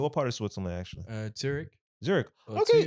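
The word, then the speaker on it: Zürich: Zurich, as they say from there. Zurich. Zurich. Okay. This is how the locals say it. Yeah. Zurich. Zurich. They don't do the sh in the end.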